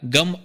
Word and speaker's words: ಗಂ: ಸ್ವರೂಪವನ್ನು ಹೇಳಲಾಗಿದೆ ಅದೇನಪ್ಪಾ ಅಂತಂದ್ರೆ ಗಮ್ ಅನ್ನೋ ಬೀಜಾಕ್ಷರ ಅದರ ಉಚ್ಚಾರಣಾ ಕ್ರಮ ಹಿಂಗದೆ ಮೊದಲು ಗ ವ್ಯಂಜನ್ಗ ಆನಂತರ ಅ ಆಮೇಲೆ ಅನುಸ್ವಾರ ಆನಂತರ ಚಂದ್ರಾಕೃತಿಯ ತಾರಕ ಉಚ್ಚಾರ ಎಲ್ಲ ಸೇರಿ ಗಂ ಅಂತ ಆಗ್ತದ ಇದೇ ಗಣಪತಿ ಮೂಲ ಮಂತ್ರದ